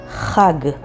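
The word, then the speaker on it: חג: Let's start with the word Chag, which means holiday, and it's spelled with Chet and Gimel.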